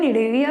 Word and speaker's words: Cnidaria: सी silent रहता है, निडेविया कहा जाता है इनको।